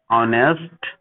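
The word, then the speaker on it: honest: एम एल ए आवर ऑनेस्ट, ठीक है। यहाँ पे जो एच है वो साइलेंट है, एम एम ए से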